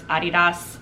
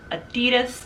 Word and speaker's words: Adidas: So it's named after him, Adi Dassler. So it's Adidas. America, however, has decided to make it its own and it says Adidas instead.